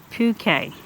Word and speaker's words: Puke: It's pronounced Puke.